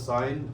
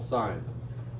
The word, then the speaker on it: sine: don't typically call this sine. We usually abbreviate this S-I-N. If you read this as sin, then you're saying it wrong. This is called sine.